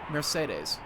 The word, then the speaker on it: Mercedes: Mercedes is Mercedes, which is apparently how it's pronounced.